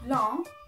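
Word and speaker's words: blanc: pink is rose Brown is one white is long you don't pronounce the sea and black is mom good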